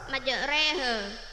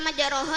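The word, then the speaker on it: مجريها: Karena salah dibaca majroha, yang benar dibaca majreha karena menunjukkan imalah. Apa itu imalah? Imalah ialah membaca di antara harakat fathah dan kasroh. Jadi bacanya itu majreha, bukan majroha.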